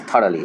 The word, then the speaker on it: thoroughly: Is the correct pronunciation of this word student is thoroughly.